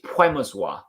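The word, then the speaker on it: Przemysław: good friend who's polish and she says it's puemozwa so that you you don't pronounce the well it's puemozwa i believe all pp just call it um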